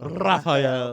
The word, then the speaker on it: Raphael: You roll your R with it, too. Raphael.